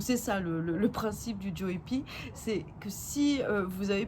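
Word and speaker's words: Joepii: Maintenant on va en arriver à la troisième plante qui est le philodendron Joy Pie comme vous préférez, mais voilà on va le prononcer à la française, c'est Joy Pie.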